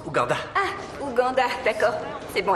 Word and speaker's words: Ouganda: Ça se prononce Ouganda.